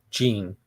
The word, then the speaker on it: Jean: Good morning, yeah, Jean. Is that how you pronounce that, Jean? Like Jean-Claude Van Damme? It's spelled the same way. Well, he says that you should call him Gene. Gene.